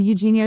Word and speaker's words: Eugenia: Hi yes I'm Eugenia. So you can think that Eugenia is just pronounced like Eugene and like I said as my slogan last year.